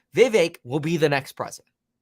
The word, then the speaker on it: Vivek: way Donald Trump performs Vivek rhymes with cake Vivek will be the next